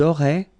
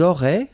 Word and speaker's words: auraient: Ils auraient, so liaison here. Elles auraient. And then look, if you've got A-I-E-N-T, then phonetically it goes like aurait.